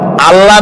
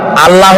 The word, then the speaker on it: আল্লাহ: বলেন তো আল্লাহ নয় কিন্তু আল্লাহ হচ্ছে অশুদ্ধ।